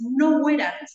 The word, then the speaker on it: noverat: En primer lugar, esta palabra norad en latín en realidad es noverat.